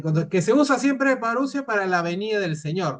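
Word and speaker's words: parusía: Parusia, no parusia, no es este. Ajá. Bueno, ahí está. Yo no soy muy bueno. Es paría. Se escribe parousía.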